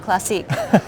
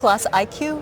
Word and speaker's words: Classiq: So I only learned this year that it's pronounced Classiq and not Classiq.